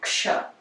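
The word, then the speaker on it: क्ष: So it's X, like action, okay, ksh. So it's a combination of k and sh, as we can hear when we pronounce it.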